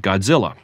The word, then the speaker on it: ゴジラ: There is no difference between the titles Gojira and Godzilla. Japanese is written using a script of characters that represent phonetic chunks. The problem is those phonetic chunks in Japanese involve sounds so unfamiliar in English they don't have obvious, unambiguous Roman letter equivalents.